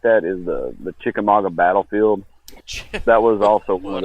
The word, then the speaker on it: Chickamauga: 18 or 20, something like that, is the Chickamauga battlefield. That was also one of the places. How do you pronounce that? Chickamauga.